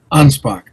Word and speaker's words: Anspach: Ansbach. Ansbach. Okay. Not not not a a sho a ch at the end. It's a K.